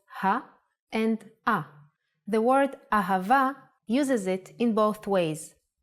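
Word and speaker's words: אהבה: and ah the word ahava uses it in both ways when hay appears in the end of the word it will always sound as ah ahava is love in Hebrew let's try to write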